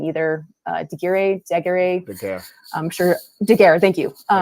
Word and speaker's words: Daguerre: Wait, how did you pronounce it? I forgot. It's a Daguerre. Daguerre, yes, thank you.